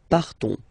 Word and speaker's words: partons: So classic ending ONS, you don't pronounce the S, you just have this on sound nasal. Nous partons, nous partons, okay?